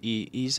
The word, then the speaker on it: Eze: I think with Eze, if I say it right. Eze. To be correct, Eze.